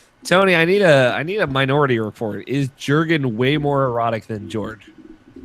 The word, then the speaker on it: Jurge: Well, I mean, I'm going to call him Jurg. Jurg? So, yeah. With like a silent E at the end, just like a hard end on the G.